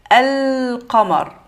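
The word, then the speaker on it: القمر: Quand il y a les lettres lunaires, donc on va dire al-qamar. Donc là, j'ai mis al, ça veut dire on va venir prononcer alif et lam. Al-qa.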